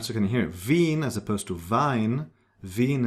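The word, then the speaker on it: Wien: It's vine. And the combination I E is pronounced like E. It's a long e vinpel z lead. All right. So you can hear vin as opposed to vine.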